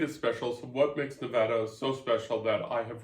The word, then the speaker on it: Nevada: sticker that people buy, that it's Nevada, not Nevada.